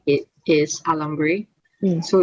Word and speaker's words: alambre: I don't know how to pronounce it, but like phonetically, it is alambre.